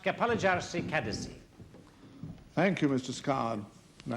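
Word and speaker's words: Kapalıçarşı: you don't mind perhaps I can assist it's pronounced Kapalari Kadesy thank you Mr scard and I'd be obliged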